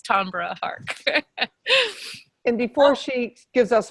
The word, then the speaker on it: Tambra Harck: extra special bonus points if you pronounce it beautifully like Renee did today which is Tom Hart and before she gives